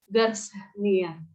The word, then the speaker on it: Garcinia: Garcinia, ada Garcinia, bacaannya Garcinia.